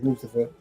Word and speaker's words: Mustafa: Some people say Mustafa Ali, but he says Mustafa. I heard them pronunciated like that. So, I'm pronouncing it like that.